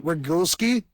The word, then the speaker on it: Regulski: I'm at the Siemens booth in the East Hall of IMTS with John Regulski. Did I say that correctly? Yeah, that's great. I'm like Ron Burgundy from Anchorman. I just read it phonetically, right?